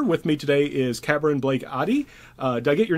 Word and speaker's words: Addie: See, whenever I see an A, I want to make it Japanese, like long A, because that's how I've learned to pronounce A. So I always say, but it's Addie, not Addie. Okay, so so I always mispronounce names like that.